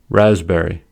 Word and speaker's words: raspberry: Secondly, the P is silent in the following words: core, coup, cupboard, raspberry, receipt, pseudonym, psalm. Silent B words.